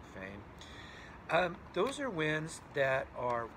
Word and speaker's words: foehn: a foehn winds right it's a German word I think it's pronounced sort of like fo-in those are winds that are warm and dry that come down the side of a mountain foehn winds right so those